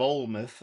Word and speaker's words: Olmith: Olmith? Yeah, Gifts of Olmith, Olmith. I very creatively renamed the world from old myths.